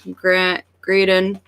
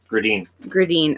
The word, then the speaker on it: Gradin: Brendan Shanahan, Thomas Gradin. Gradine. Okay, I knew I was pronouncing it wrong. Thomas Gradine. This one's not EB Games now doing wait lists next gen if you care.